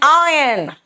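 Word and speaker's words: iron: एंड आयन बेटा आयरन नहीं होता। इट्स आयरन आर साइलेंट है यहां पे।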